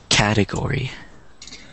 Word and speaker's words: category: the C calendar calendar category category okay one more time category category category yeah one more time category yeah right but but we got to remember that the stress is on the first syllable so it's it's category